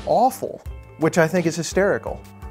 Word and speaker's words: AFOL: Lego well it's and it's pronounced awful which I think is